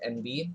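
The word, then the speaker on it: enby: non-binary so n and nb itself uh is pronounced and b and it represents the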